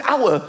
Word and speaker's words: hour: Why is the word hour spelt with an H? Why is there an H? The silent H.